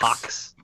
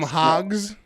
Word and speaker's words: hock: Hocks. Hocks. You thought it was ham hogs? I thought it was ham hogs. Yeah, ham hock or hoof is pork knuckle. It's a hock.